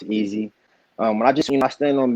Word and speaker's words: EVSY: A lot of people think it's pronounced EVSY, but it's not. It's definitely pronounced easy.